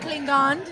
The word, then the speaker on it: Klingande: hope I say his name properly it's DJ clean gand yeah it's good you did it are you